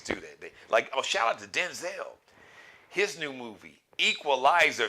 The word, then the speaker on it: Denzel: We found out that actually the correct pronunciation of his name is not Denzel, it's Denzel. But I guess he said